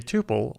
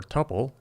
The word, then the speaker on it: tuple: A tuple, or "tupple", either pronunciation is acceptable, is a very efficient way to collect and index data of any Type.